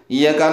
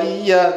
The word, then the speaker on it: إِيَّاكَ: Harusnya iyyaka na'budu wa iya gitu. Iya. Ya ditasydid. Iya. Tajibu qira'atuha bitasydidil ya'i. Wajib membacanya dengan tasydidnya ya. Li'anna takhfifaha fa ma'nahu dhau'u syamsi. Karena meringankan ya, maka maknanya menjadi dhau'u syamsi.